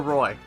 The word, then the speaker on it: Roy: And fun fact, that umlaut over the O does not change the pronunciation at all. It's still Roy.